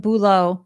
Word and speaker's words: Boolo: founded boolo solutions and boolo is pronounced obviously b-o-o law and it's a career